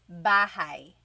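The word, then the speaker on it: bahay: You might notice that the spelling is a y at the end. So it looks like bahi, but it's pronounced bahi. That a y combination is bahi.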